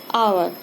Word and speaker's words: hour: This H is silent, and I have told you with a silent H.